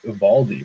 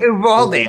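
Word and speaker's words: Eovaldi: Ubaldi. Oh, shit. I forgot. Yeah, there's no V sound in Spanish. V's are pronounced with B.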